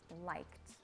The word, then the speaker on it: liked: So for most verbs that are ending in the past simple tense with an ed, it's going to be basically silent, the letter E.